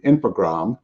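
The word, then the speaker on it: Infogrames: January of 2001 when infogram and you do you just dropped the es on the end on that French pronunciation um took over was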